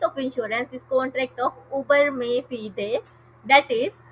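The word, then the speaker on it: uberrimae fidei: इज a contract of उबर में फिदे। उबर में फिदे, मैंने खुद भी इसकी प्रोनाउंसिएशन देखी थी गूगल से, तो वही मैं बता रही हूँ, ठीक है।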